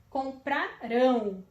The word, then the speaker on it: comprarão: Comprarão. Terminação rão. O acento está na última sílaba, né?